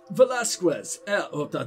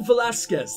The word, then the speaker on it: Velasquez: out all that well velazquez what a horrible pronunciation el velasquez there you go i actually said ques